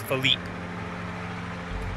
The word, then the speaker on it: Philippe: and his name was Philip. Well, that's because he was... But I still call him Philippe, because that's how it's spelled. He was in the U.S. That's the French spelling, and it's Philippe.